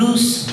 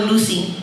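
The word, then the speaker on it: Luz: going to be called loose my name is loose it means light in Spanish it's no longer Lucy he was like BM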